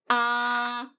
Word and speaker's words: a: very basic but very important part of chinese pronunciation the six simple finals look how widely i open my mouth ah yes it is similar to the r sound